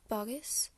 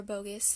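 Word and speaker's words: Boggis: a plum chicken from bogus or bogus depending on how you say it a duck or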